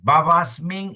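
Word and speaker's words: bhavasmiṁ: Ayat is a long a bavasming is a short a soalik here.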